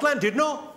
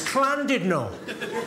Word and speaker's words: Llandudno: This guy, front and centre, where you're sitting there, face like fucking thunder, went, it's not Llandudno, you bloody fool. It's Llandudno. In Wales, the double L is pronounced with a C.